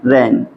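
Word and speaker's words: reign: इसको भी क्या पढ़ेंगे रन रन ठीक यहां भी देखेंगे क्या हमारा है आर ई आई जी एन यहां भी क्या हमारा जी साइलेंट है साइलेंट है तो बस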